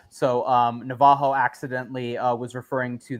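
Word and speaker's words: Navarro: uh pronunciation here uh I I was went with Navaro I think most people do that is not the correct pronunciation as to your uh Rafael Navajo okay yes instead of that's in Brazilian Portuguese actually funny little tidbit here Bob ra actually goes ha as opposed to Raw so um Navajo accidentally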